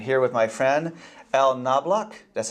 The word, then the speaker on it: Knobloch: I'm here with my friend Al Knobloch. That's how you pronounce it, right?